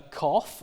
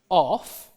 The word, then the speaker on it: cough: coughing, and this is written with an O-U-G-H. So that's a cough, which is pronounced off.